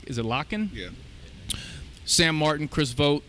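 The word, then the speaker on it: Lakhin: Davenport, Victor, I believe you say is it Locken?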